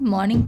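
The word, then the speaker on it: morning: Okay, good मॉर्निंग नहीं होता है, गुड मॉर्निंग पढ़ते हैं। हम क्या करते हैं, आर को हल्की सी लेते हैं, बिल्कुल साइलेंट ही समझ जाओ आप इसको, इसलिए हम यहाँ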